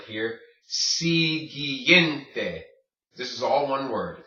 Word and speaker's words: siguiente: Siguiente. This is all one word. Siguiente, okay? When you have a G-U-I, it makes the G sound.